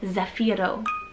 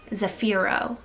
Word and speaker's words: Zafiro: a boy same exact meaning it's the name zafiro zafiro spelled z-a-f-i-r-o zafiro super super handsome very cool